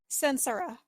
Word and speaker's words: Censura: It's the pronunciation of it. Oh, okay. What is it? Censura.